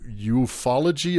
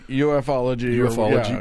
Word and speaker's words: ufology: So, this uh dovetailed perfectly with the science of eufology or uology. Ufology.